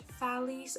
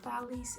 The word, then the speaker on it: Thales: But this is very important thing, as Thales, I think he's pronounced Thales in English, the Greek mathematician, said, the most difficult thing is to know yourself.